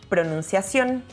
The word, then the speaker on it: pronunciación: It becomes to pronunciación. Don't forget the accent in the letter O.